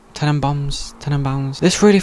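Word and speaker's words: Tenenbaums: then I watch the Royal Tenon bounds is how you say it ten and boms ten and boms this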